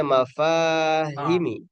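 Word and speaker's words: مفاهيم: Kemudian mafa ini dibacanya mafahimi. Mafahimi.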